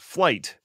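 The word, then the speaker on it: Flyte: the Linux foundation called flight and of course it's not spelled like it sounds it's f l YT and why they could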